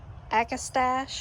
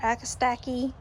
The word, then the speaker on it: Agastache: All right, this is meant to be Nectarine, Agastache or Agastache. There's a whole bunch of ways to pronounce it, but it has this peach color.